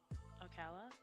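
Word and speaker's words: Ocala: so here we go is that how you pronounce it oala uhu yeah okay I was just making sure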